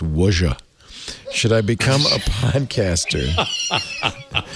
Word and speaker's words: Ouija: become a by the way uh stacey that's pronounced wonja should i become a podcaster it's a worship